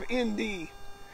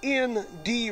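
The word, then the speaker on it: Endee: Down the road a piece is a little town, a ghost town of ND. And it was named after the ND Ranch. And it's spelled E-N-D-E-E.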